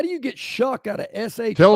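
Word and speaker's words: Shough: Tyler Sha. No, Shuck. Shuck. Tyler Shuck. How do you get Shuck out of sh?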